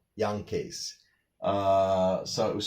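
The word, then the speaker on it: Jankee: well it's actually pronounced more like Yankays.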